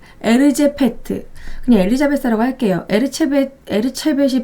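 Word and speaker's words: Erzsébet: 에르체벳이 발음이 좀 어렵네요. 엘리자베스 바토리. 그러니까 영어로 발음할 때는 엘리자베스 바토리, 헝가리어로 발음할 때는 에르체벳인데요.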